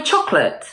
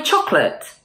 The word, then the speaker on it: chocolate: Now let's drop the O. Hey, did you eat my chocolate? Hey, did you eat my chocolate?